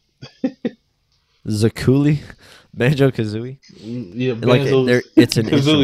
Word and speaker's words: Banjo-Kazooie: Zakuuli, how you say it? Zakuuli? Banjo-Kazooie?